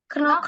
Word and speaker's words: knock: Knock knock. Bacanya K-nya silent.